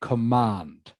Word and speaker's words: command: command of English Okay this word here command the stress is on the second part of the word all right command command she has an excellent command of English okay did anyone get 10.